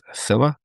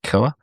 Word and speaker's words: Cila: I'm going to go with Scylla, not Killa, because it'll be a K.